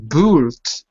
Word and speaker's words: built: So again, you've got this U, letter U, but you don't say the U. So it looks like built, but it's not boot, it's built. Built.